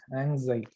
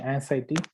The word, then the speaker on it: anxiety: anxiety it's not anxiety anxiety it should be this one is mispronounced unfortunately you shouldn't mispronounce it by saying anciety it's not anciety but it is anxiety anxiety okay all right let's